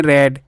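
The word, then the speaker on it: read: रेड रेड। रीड verb की third form भी यही होती है। फर्स्ट फॉर्म भी स्पेलिंग में पढ़ते रेड है।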